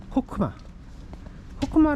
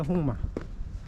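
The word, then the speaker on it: חכמה: 왕관을 의미하고 두 번째가 코크마 라고 많이 써 있는데 정확한 발음은 홍마예요 홍마 이게 혹이 하나의 음절이기 때문에 호크라고 하면 안 돼요 홍마라고 해야 돼요 이것은 이제 지혜 지혜를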